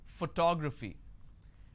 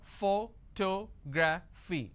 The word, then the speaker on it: photography: how do I pronounce photography and how many syllables do I have here photography four syllables but in this case I stress on the second syllable that is what word